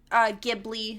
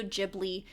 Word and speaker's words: Ghibli: But anyway, Ghibli, Studio Ghibli. To my understanding, both are allowed pronunciations. Like, there's not a very one specific one.